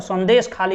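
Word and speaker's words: संदेशखाली: उसका एक कस्बा है जिसको संदेश कॉली नाम से जाना जाता है। मैं बंगाली में प्रोनाउंसिएट करने का प्रयास कर रहा हूं, जिसको ऐसे सीधा सीधा पढ़िएगा तो संदेश खाली इसको कह सकते हैं।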